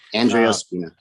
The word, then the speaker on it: Andrea Spina: Andrea Spina. Thank you. Andrea Spina.